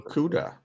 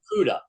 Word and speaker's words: Okudah: And their number 3 overall pick last year, Jeff, I can never pronounce his last name. Okudah. Yeah, Okudah.